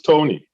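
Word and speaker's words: Toni: tony belafonte right but her name is spelt t-o-n-i people who have that name t-o-n-i call themselves tony so tony could have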